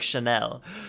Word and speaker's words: Chanel: I want to pronounce it the French way and be like Chanel.